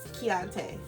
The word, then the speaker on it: keante: that's it um and i will correct somebody if they say his name oh yeah she she like uh no it's keante yeah yeah yeah people always